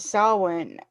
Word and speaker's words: Samhain: And I remember the first time I ever said Sam Hain, I got my butt chewed over that.